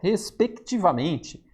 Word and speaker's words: respectivamente: Tá faltando a letra C aqui, olha, respectivamente. Esse C não sumiu nem após a reforma ortográfica porque é uma consoante pronunciada, assim como no verbo conectar.